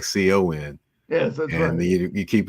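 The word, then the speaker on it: Khan: know you said you hear it sounded like Co n yes that's and you keep wondering is uh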